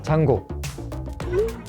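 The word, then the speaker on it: Django: 장고, 장고. 더 이상 물어보지 말고 그냥 하세요. 장고. D는 묵음이죠.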